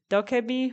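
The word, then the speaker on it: 도깨비: I'm gonna butcher this, but I think it's pronounced guishin, or spirits in Korean folklore, or humans who have died, and they're also dokebi, which are Korean goblins, and they're both shown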